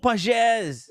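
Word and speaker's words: Pagès: that's the the the dot right that's the pages no no that's uh Raul Pages that's oh Raul pasz it's not Pages it's pronounced what I call them that's what it's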